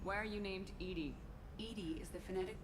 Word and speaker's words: EDI: a door why are you named Ed Ed is the phonetic pronunciation of Eed that is an acronym for